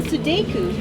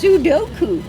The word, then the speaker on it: Sudoku: Oz says doing crosswords and Sudoku. Sudoku. What? You pronounced it incorrectly. It's Sudoku.